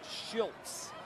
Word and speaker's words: Schilz: Matt Schilz, the backup quarterback. S C H I L Z. It is pronounced Schultz. Like there's a T in it.